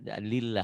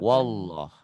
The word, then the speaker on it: Allah: Yang menyebabkan tipis dan tebal lafaz Allah ini tergantung baris sebelumnya. Kalau baris sebelumnya barisnya di atas, nah ini baris di atas. Dibacanya tebal, Tetap wallah tuh ya. Rasulullah. Tapi kalau sebelum lafaz Allahnya barisnya di bawah, dibacanya tipis. Bismillah, lillah. Tuh ya.